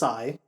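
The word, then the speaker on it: açaí: Kai a a I I did look up the actual pronunciation it is aigh but aai but depending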